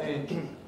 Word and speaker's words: angel: my example here is the word angel normally pronounced with a weak second vowel angel angel which may or may not coalesce or angel but when you're singing